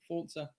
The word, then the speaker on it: Forza: But also a game called Forza Motorsport 7, which is Forza, but it's Italian, so you pronounce it Forza.